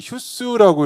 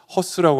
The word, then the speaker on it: HUSS: 이게이 휴스라고 이렇게 발음을 해 주셨으면 감사드리겠습니다. 이게 좀 헷갈릴 수가 있어요. 이게 하다 보면 헛스라고 할 수도 있고 혹은 뭐 애매하니까 Hus 이러기도 하는데 어, 휴스로 이렇게 통일를 해 주시면은 좋을 것 같습니다.